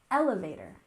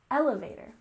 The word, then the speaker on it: elevator: We have emphasis on the first syllable, elevator, elevator.